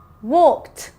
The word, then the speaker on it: walked: Walked. Can you hear that T sound at the end?